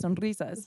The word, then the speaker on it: Sonrizas: I was like, okay, people who don't speak Spanish, if they see a Z, that's gonna make them want to say like Sonrisas. That's why I say it which like is closer. Sonrisas.